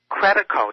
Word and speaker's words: Credico: I'm delighted to have him, Randy Credico.